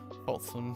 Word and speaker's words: Folsom: I always forget how to pronounce it. Folsom.